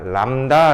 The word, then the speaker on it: 람다: 파장을 우리는 기호로 앞으로 요렇게 쓸 거야 람다 라고 읽어 주시면 되요 뭐라고 이거 납니다 과장